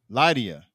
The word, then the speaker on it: Liadi: welcome our next guests Miss Sade Lydia did I pronounce that right your last name yes let's give it up good evening all right all right so welcome to episode 61.